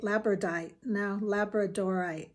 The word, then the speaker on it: labradorite: I think I said that right. Labradorite. There's an extra syllable in there.